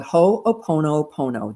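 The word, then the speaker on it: hoʻoponopono: they call it but you pronounce it with a little hitch in in between the words and uh then the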